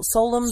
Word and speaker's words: Solemn: Como é que devemos pronunciar Solemn?